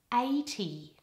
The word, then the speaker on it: eighty: stress in these words in the word 80 the stress is all on the first syllable and there's a double vowel in there - let's try the vowel first a you should feel two vowels and and then an e a eighty now in the word